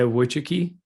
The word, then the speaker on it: Wojcicki: Yeah, Wojcicki.